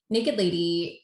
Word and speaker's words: NKD LDY: It's spelled NKD LDY. And please, Becca, tell us all about it. Naked Lady is a line of non-alcoholic distilled spirits made from real spirits.